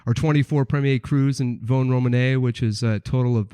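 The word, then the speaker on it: Vosne-Romanée: I'm glad that you've told me how to pronounce Vosne, because there's an S in that you don't pronounce. Vosne-Romanee. I did not know that. I was that guy, Vosne-Romanee.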